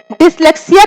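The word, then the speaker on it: dyslexia: इसका सही प्रोनाउंसिएशन क्या है? डिसलेक्सिया। डिसलेक्सिया किससे संबंधित है?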